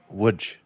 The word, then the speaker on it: Łódź: It is pronounced Łódź. It is actually my family's ancestral hometown. Oh, is that right? Yep, I visited Łódź for a week and a half a few years back.